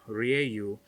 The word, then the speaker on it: Ra: on using the stargate ra or ryu as they pronounced it brought thousands of people